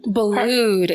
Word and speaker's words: Boulud: And you worked with, how do you pronounce his name? Boulud.